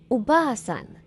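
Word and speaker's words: おばあさん: For example, Oba-san means grandmother, but Oba-san, without pronouncing the long vowel, the meaning becomes aunt.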